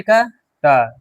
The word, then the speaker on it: caught: AU को क्या बताया मैंने कि इसका उच्चारण होता है औ, और GHT का टा, सी से का, कॉट, क्या पढ़ेंगे इसको, काउट।